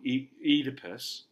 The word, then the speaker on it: Oedipus: So I know it looks like O-E, right? But in Greek, when you got two vowels in a row, they're pronounced as one. So Oedipus, right?